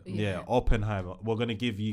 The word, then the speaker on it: Oppenheimer: I'm saying Oppen. Is it Oppenheimer? That's how you say it. Yeah, Oppenheimer.